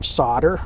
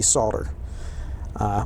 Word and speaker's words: solder: how to pronounce it where I come from we call it solder but really the proper pronunciation probably should be soldered but it doesn't matter